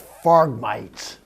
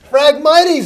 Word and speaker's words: Phragmites: And that's, how about frog mites? Farm mites. Farg mites. Oh, Phragmites? Phragmites, that's how they pronounce it.